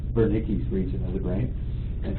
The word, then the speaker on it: Wernicke: And so it's W to W pronounced with a D, Wernicke's region of the brain.